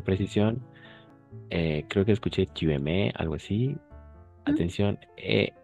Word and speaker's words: aimes: A, I siempre va a ser E. Esta combinación de letras, en la mayoría de los casos, no siempre, pues va a ser E. Entonces será, est-ce que tu aimes, porque ES es mudo.